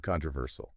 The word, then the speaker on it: controversial: And then we have controversial. Controversial. Another long. Yeah. So the pronunciation is the main stress is on the third syllable.